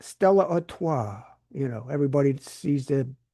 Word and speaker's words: Stella Artois: A major partnership to promote Budweiser, Corona, Stella Artois. That's how you say it. I had to look it up. Stella Artois.